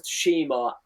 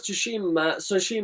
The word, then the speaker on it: Tsushima: Like, you look at Ghost of Tsushima. Sorry, I keep saying two because you don't pronounce the fucking T.